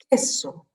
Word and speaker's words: queso: La O de oso, la P de pelota, la Q de queso. Et alors attention, on ne prononce pas le U, hein.